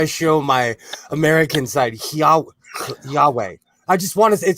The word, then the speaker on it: Yahweh: show my american side yahweh i just want to it just says yahweh to me actually i don't think you're even supposed to pronounce the h i think it's more like that way oh okay i've been